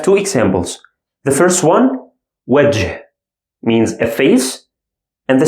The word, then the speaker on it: وجه: وجه, وجه. I pronounce it as ه or H sound in English.